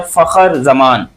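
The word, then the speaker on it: Fakhar Zaman: लोग देख रहे हो इसका नाम सही प्रोनाउंस किया करो। इसका नाम है फखर जमान। आप लोग कुछ और ही इसको कुछ और ही बोल देते हो। गलत बात है।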